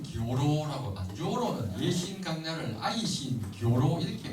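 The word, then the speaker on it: Aisin Gioro: 아니고 어 아이신 교로 아고 조로는 예신 강를 아이신 교로 이렇게 발음을 하는데 어 아이싱 하는 것은 쇠를 말하고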